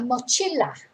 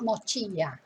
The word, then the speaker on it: mochila: in spanish is a mochila it's only one l that's what's checking i had it in my head that was two elves it's not it's not mochilla so it's 1l la